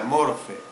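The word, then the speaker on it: μορφή: Si a usted le gusta saber la escritura del idioma griego, después de la letra, bueno, se lee mor, luego P, una H y una E, pero se pronuncia morfe.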